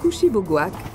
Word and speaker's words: Kouchibouguac: Souvent mal prononcé, le nom Kushibougouak vient du Mi'kmaq et signifie « rivière aux longues marées ».